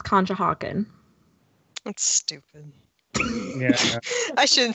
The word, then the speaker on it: Conshohocken: It's Pennsylvania and it's Conshohocken.